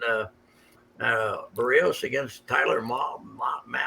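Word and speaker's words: Mahle: in town and uh uh barrios against tyler mal how we pronouncing that mally tyler mally mally i mean that's you can't get better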